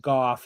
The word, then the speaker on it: Goff: And every time Rich Eisen talks about Jared Goff, he talks about the scene in Cattyshack where Judge Smell says it's they pronounce it golf without the L.